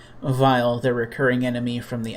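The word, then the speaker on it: Weil: was intentional but like his name looks like wiley but it's pronounced like vile and he's still the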